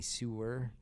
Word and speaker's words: sewer: It's why kids in Clifton want to crawl through a sore great to see if they And I know I can't pronounce that word correctly. Sewer. Sore. I say sore great.